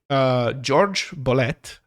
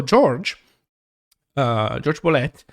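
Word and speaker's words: Jorge Bolet: he always used the a more Americanized pronunciation of his name. So George Bolet, is a piano player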